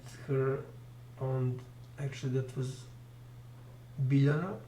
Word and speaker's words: Biljana: Lje is natural speaking sound. It is created by speaking two letters. Faster and faster, so L and Y, actually J in Serbian, J is pronounced as Y in Serbian, so if you go you will end up with Lje.